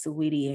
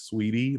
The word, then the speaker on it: Saweetie: like it started out as sweetie like it's like extra letters yeah but there are so many extra letters yeah but it's so weedy i don't know if they i don't know if anybody pronounces it differently i just i'm like sweetie because interesting why the